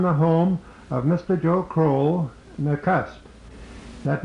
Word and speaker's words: Crowell: to you from the home of Mr Joe croll the cusp that name is spelled c w l Mr Co is one